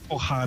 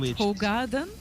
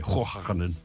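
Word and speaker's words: Hoegaarden: Hojarden. It's not Hogarden? No, and I'm pronouncing it the Dutch way, Hojarden as well.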